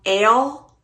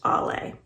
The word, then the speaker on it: Ale: Ale? Rhymes with sail? This is how people who don't know her usually say her nickname. It's actually pronounced Ollie.